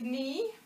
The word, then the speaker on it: knee: our k words so words like knee and not and knit the k is actually silent and you'll learn